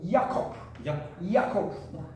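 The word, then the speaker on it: יעקב: 그러니까 또 예를 들어서 야곱도 이야코프 그 히브리 발음이 이야코프란 말이에요.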